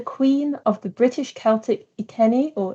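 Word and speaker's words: Iceni: two who's the queen of the british celtic ikeni or itzeni tribe who led an uprising against the roman empire in 60 or 61 a.d okay i have been told it's pronounced i see any tribe thank you cons man in my ear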